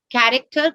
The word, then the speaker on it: character: why chu sound then character christian chorus and chronological are of greek origin so that's why they are the curve sound is used and french origin words are normally they normally take it as sheer sound champagne machine right again